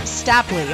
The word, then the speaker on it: Stapley: Is it Stapley or Stapley, so I say it properly? It's Stapley.